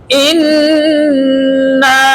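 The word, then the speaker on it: إِنَّا: হামজা নুন জের ইন, নুনে মিমে তাসদিদ।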